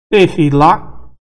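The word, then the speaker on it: תְּהִלָּה: Tehilá também é pronunciado porque está no início.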